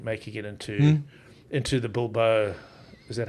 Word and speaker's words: Bilbao: In fact, Bilbao.